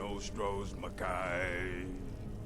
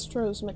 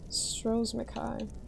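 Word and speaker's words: Stros M'Kai: Once was a woman as fair as an evening of springtime in Oros Mai. It's pronounced Stros Mai. I was always saying straws and Kai. Stros Mai.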